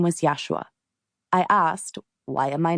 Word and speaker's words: Yeshua: While the pronunciation of his name in Aramaic was Yesua, he expressed that Yeshua is perfectly fine and interchangeable.